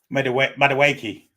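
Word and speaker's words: Madueke: Madawake. That's how you say it.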